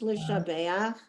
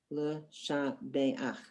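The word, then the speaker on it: לשבח: Those are both pronounced Lishabeach because the aleph in the second one has no sound. So we have an ah, and the final letter is ach. The final letter is ch, Lishabeach.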